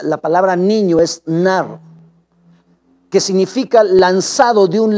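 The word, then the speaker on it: נער: decirte que es una palabra hebrea nada se pronuncia la palabra niño es nar qué significa lanzado de un lado a otro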